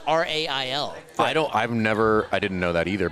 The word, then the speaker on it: Roehl: And just so you know, it's actually pronounced rail.